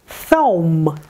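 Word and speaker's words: ثوم: Thaum. Thaum. Буква Th, межзубный глухой Th. Буква Wow. В данном случае она фигурирует как согласный W.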